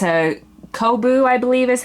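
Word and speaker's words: Coboo: is actually a lion brand yarn it's a kobu i believe is how you say it c-o-b-o-o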